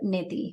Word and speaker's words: neti: to mention is Jal Neti, or otherwise known as Neti, or if you're not, if you're just pronouncing it the way most people do here, it's neti, like get yourself your neti pot.